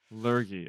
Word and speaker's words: lurgy: Spell it for me. Illness. L U R G Y. Lurgie.